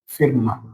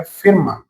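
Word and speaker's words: Firma: इसके एग्जाम्पल की बात करें तो एग्जाम्पल हो गया जैसे कि फिरमा। एफ को हमने क्या बोला? फै। आई को ई, आर को रै, एम को मैं, और ए को क्या बोलते हैं? आ। तो ये क्या हो गया? फिरमा।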